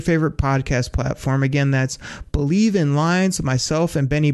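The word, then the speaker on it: Bleav: That's called Believe, and that's spelled B-L-E-A-V in Lions.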